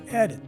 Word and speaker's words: edit: Again, this word is pronounced as edit.